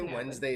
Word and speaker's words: Wednesday: d in there wednesday there's a d in there i know wednesday wednesday there's like a it's like a silent d like it's a